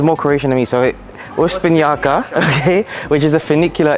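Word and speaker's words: Uspinjača: So I will pronounce this as Uspinjaka, okay? Isn't the J a Y? Oh, is it Uspinjaka? And the C is like a CH.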